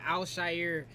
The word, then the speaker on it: Al-Shaair: And on top of that, as you see, I can't remember how to pronounce his name, but I want to say Al-Shaair. Yeah, Al-Shaair, that's his name.